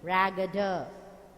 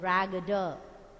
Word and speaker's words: raggeder: But a raggeder thing, raggeder. R is silent, raggeder. The ending R is silent, raggeder thing.